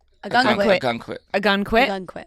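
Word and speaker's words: Ogunquit: How do I pronounce it again? Ogen quit. A gun quit.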